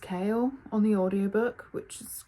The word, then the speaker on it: Chaol: It's spelled Chaol, but it's pronounced Chaol on the audiobook, which is kind of funny.